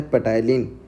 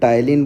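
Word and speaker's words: ptyalin: अब ऐसा एंजाइम जो कि स्टार्च को डाइजेस्ट करता है जिसका नाम क्या होता है, पेटाइलिन या फिर टाइलिन बोलते हैं, पी साइलेंट होता है।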